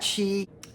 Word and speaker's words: qi: That Qi, which is a softer Ch, is written Q-I.